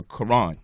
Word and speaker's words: Quran: at the word uh Quran in English we just pronounce the k and the Q the same exact way but the Q is supposed to be pronounced like from the back of the throat like when we make